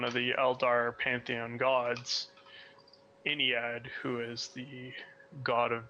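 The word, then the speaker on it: Ynnead: Some people pronounce her Yenid. Some people pronounce them Enid. It's hard. I could try and switch to Enid if it's easier. No. It's all good. I say Iniad because it's Inari.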